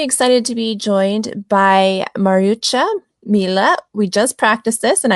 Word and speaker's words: Mariuccia Milla: Well, as you pronounce my name perfectly, Mariuccia Milla.